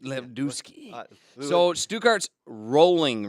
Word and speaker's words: Lewandowski: pronounce it right. Lewandowski. Lewandowski.